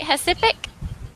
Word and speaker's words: Recife: Recife.